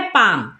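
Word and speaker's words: palm: जैसे यहाँ पर है पाम, तो पाम में आप ध्यान दीजिए एल जो है वो किसके पहले आया है एम के पहले, तो यहाँ पर एल हो जाएगा साइलेंट, तो क्या पढ़ते हैं पाम।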